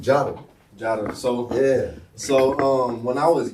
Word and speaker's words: Jotta: You was probably locked up during this shit, but I used to call myself Gata, like Gata. Okay. You know what I'm saying? And my homeboy just pronounced the shit Jotta.